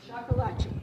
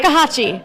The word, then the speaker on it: shakuhachi: Sakuhachi, have to remember how to say it. That's it. You got it right. Shakuhachi.